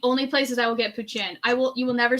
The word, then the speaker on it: poutine: you guys pronounce as poutine putin putin that's the way they tell me to pronounce it in french canadian culture it is pronounced i